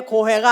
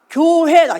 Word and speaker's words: 교회: 오디오 줘 교회와 교회 교회 발음을 잘 하셔야 되요 고고 어에 망망대해 고 회가 아니라 교회가 교회 자 교회에 오신 이